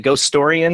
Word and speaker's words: Ghostorian: the ghost of sto ghost storian which I love that title by the way am I saying it right ghost storian is that how you